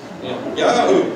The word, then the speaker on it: Jehu: And actually, I'm pronouncing his name very Americanized, because you got to remember that J-E is not pronounced J in Hebrew, just like it isn't in Spanish and some other languages. It's Yah. So it's Yahoo.